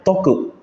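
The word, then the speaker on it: とく: Tapi kadang-kadang te sama o-nya itu dijadikan satu, sehingga dibacanya toku. Te okimas menjadi toku.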